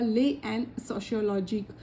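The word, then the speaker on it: L'Année sociologique: था ले एंड सोशियोलॉजी इसको ऐसे बो डिफाइन इसको ऐसे प्रोनाउंस किया जाएगा ले एंड सोशियोलॉजी उनका जो क्या यह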